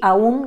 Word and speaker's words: aún: un que en realidad sin tilde diría aún con diptongo y aún con tilde rompiendo lo independientemente de cómo